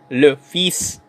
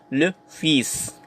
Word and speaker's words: le fils: Le fils. Alright, take note ang basa dito is le fils. I know bakit pinopronounce natin yung S tapos hindi pinopronounce yung L.